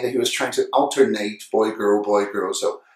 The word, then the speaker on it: alternate: for an adjective so adjectives that end in at they're going to sound it so we have alternate adjective it and in